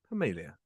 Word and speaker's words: Permelia: Permelia, I hope I'm pronouncing that correctly. You did, yes.